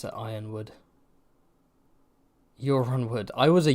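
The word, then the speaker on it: Yronwood: reach let me know yeah people saying they pronounce it Ironwood uron wood I was a uran wood guy I was like uran wood in my head and then I heard YouTubers pronounced it Ironwood and I was like okay Ironwood makes more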